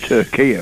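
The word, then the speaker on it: Türkiye: um Tura election because now it's pronounced it's the new name is Tura isn't it well I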